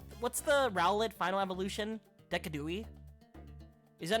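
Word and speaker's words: Decidueye: Decadooi. Is that not how you say his name? D E C I D U E Y E. Decadooie.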